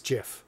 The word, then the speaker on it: GIF: wrong yeah it's it's Jiff it's gif as in giraffe it's gif yes Graphics